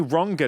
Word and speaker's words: Rangan: And when they say Rangan and not Rangan, I'm like, oh, you know how to pronounce my name.